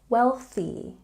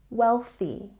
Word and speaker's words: wealthy: wealthy Ooh La La and don't forget we have the T sound put your tongue between your teeth wealthy wealthy and don't say very